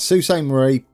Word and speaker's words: Sault Ste. Marie: Sault Ste Marie there thank you for the pronunciation uh I gave it a go how is it was yes Susan Marie then we've got uh White River to hook